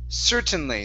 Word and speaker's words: certainly: here instead of certainly the word is pronounced certainly the stress is at the beginning certainly slyly there you